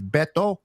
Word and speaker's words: Beto: But just want to correct for those that kind of hard to pronounce my name is Beto, not Beto.